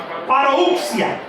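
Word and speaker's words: parusía: Paruxia. No sé si le suena. Se escribe con doble S. Parouxia. Que significa también aparición.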